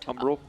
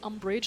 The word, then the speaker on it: Umbral: Umbral. Umbral. Umbral. I always want to say umbrage like Harry Potter.